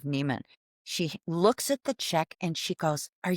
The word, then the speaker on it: Nemon: He hands her the check, and our last name is spelled Nemon. It's an unusual spelling of Neiman.